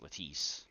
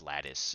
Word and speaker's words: lattice: just say ice so I thought it was ltis and no she was like nah it's lattice and she showed me on